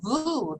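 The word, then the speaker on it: vooh: And I just learned a new sacred sound syllable besides the ah, like ah, ah, is voo, V-O-O-O-H, but then the H is silent.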